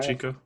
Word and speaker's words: Shevchenko: I said her last name wrong. But she fighting Maya. Shevchenko.